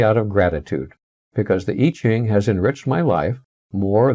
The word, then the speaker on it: I Ching: to introduce your teacher mr i pronounced e mr. e ching the sage he's an